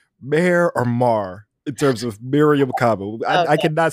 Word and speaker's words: Mariame: Yes, Mariame. Yeah. Okay. All right. Mariame.